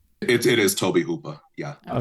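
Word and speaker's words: Tobe Hooper: How would you pronounce it, Frank? It it is Toby Hooper.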